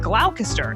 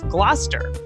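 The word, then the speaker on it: Gloucester: where Shakespeare was writing, I often mispronounced some of the words that you find in the plays. Like originally, I said glalcaster instead of Glouester.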